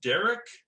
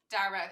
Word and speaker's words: Darach: to tell your brother is it pronounced derrick no he'd lynch you for that it's dara it's it it's spelled darach but he says dara i still didn't get